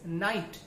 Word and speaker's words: knight: For example के एन आई जी एच टी, That is night, not knight.